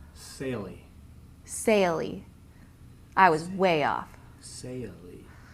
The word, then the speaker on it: Saili: Saili. That is beautiful. Saili. I was way off. Saili. I was going to say sail because S-A-I-L, but I didn't know. Because she pronounced it S-A-Y-U-H. Right. Lee. Saili.